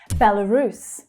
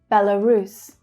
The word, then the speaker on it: Belarus: So starting with bel, we have bella. The middle syllable is unstressed and it reduces to become the schwa sound. L, bella, Belarus. So the main stress is on the final syllable.